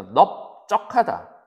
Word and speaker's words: 넓적하다: 널 했을 때 이 질문이 뭐냐면 넓적하다 하고 넓따라타인데 넓적하다 리을 비읍 중에서 얘는 비읍이 소리 나는 거야. 발음할 때. 그래서 넙이라고 발음하고 그래서 넓적하다 넓쭉하다라고 발음하기 때문에 얘네는 이렇게 쓰는 거야.